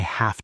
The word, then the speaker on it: have: When we say I have a car, the v sound in have is soft. Have.